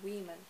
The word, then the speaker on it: women: Что касается женщин, одна женщина a woman, много женщин произносится women, то есть произносится не так, как пишется, и это стоит учитывать, чтобы не допустить ошибок.